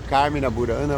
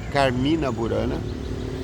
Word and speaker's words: Carmina Burana: Carmin burana ou Carmin ele falou que você pode falar carmena burana ou Carmina burana eu prefiro falar Carmina burana porque trazendo para o português o i é sílaba tônica então Se eu quisesse falar Carmen na burana eu teria que colocar um assento agudo no primeiro ar então Carmina burana eu fiquei encantado porque